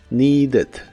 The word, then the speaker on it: needed: La primera parte es igual que en el presente, con la i larga o doble, y la ed que se le agrega al final se pronuncia como ed, con la e muy suave, needed, needed, y se